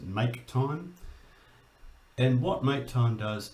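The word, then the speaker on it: mktime: so we talked about mk time or i pronounce it make time and what make time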